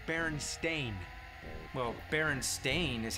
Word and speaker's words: Berenstain: game whatever it is Oh you mean Berenstein Bears no apparently it's Baron stain well Baron stain is